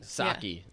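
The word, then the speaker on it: Psaki: press secretary jen jensaki saki oh that's what it is with the p at the front yeah that p is silent get that p out of here yeah like pterodactyl yeah i don't want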